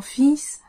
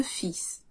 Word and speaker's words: fils: Quand il s'agit d'enfant au singulier comme au pluriel, le L se prononce pas mais le S se prononce. Mon fils a 10 ans. J'ai deux fils.